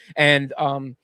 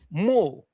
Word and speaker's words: MUL: It's not pronounced An, it's Mul, and it's just you'll usually see 3 of those same.